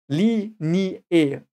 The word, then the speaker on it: Linie: Normally, you would pronounce this E, as I said, but this is one of the few special cases where you would say Li, Ni, E, and you part them.